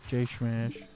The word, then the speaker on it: J$mash: I say it with an SH when I'm talking about Smash. J Smash. It just seems like with the like the dollar sign, that's how you would pronounce it.